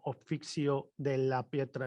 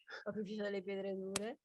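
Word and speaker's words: Opificio delle Pietre Dure: Oficio de la Pietra. Eso casi lo dices tú mejor, lo pronuncias tú mejor. Dure fracche. ¿Cómo? Oficio delle pietre dure, italianario.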